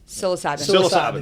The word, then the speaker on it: psilocybin: Psilocybin, I don't pronounce that well. Psilocybin.